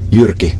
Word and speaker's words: Jyrki: year and you really want to learn to pronounce my name right yay go on please uric a Yorkie repeat after me yucky yucky and now do that the same home